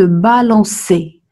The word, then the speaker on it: balançait: Nous remettrons la cédille sur le C afin de prononcer il se balançait.